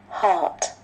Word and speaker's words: heart: Cái ở đây có ai nói đọc giống cái nón không? Không phải nha. Cái này không có cửa nẻo, là cái mũ không có hát là nó khác rồi.